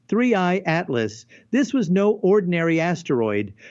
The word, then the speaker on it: 3I/ATLAS: The name whispered among scientists, three Atlas, pronounced threeey atlas.